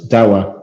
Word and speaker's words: Dahua: It's huge, but no one can ever pronounce it properly. It's actually spelled like this, and you say it like that. So it's Dawa, Dahua, it's complicated, right?